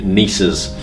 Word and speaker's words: gneisses: Some smothered in garnets, some what we call granitoid schist, and rarer still the beautiful green and white hued gneisses. That's spelled with a G-N-E-I-S-S-E-S.